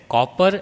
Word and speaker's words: copper: Whereas copper and copied are pronounced with KAW, ko sound.